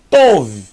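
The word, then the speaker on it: טוב: Vet são V então aqui eu tenho T mais o mais V tov tov muito fácil tov que quer dizer bom tov meod muito bom Laila tov Boa noite Boer tov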